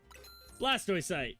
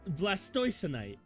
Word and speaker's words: Blastoise: Anyway, Blastoy site. Blastoise. Whatever. They kicked Clement out of his own gym. Blast Blastoise. That's how it's said.